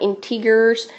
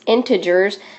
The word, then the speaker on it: integers: number five are integers remember we learned how to pronounce that word correctly it is not integers um it's integers and these include those